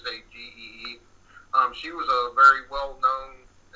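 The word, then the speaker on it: Sagée: Sagee, sorry if I mispronounce it. It's Sagee.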